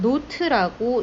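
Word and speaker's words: naught: 컨디션을 의미를 하는 거고요 이거에서 우리는 노트라고 읽어 줍니다 노트음 달타 GN 델타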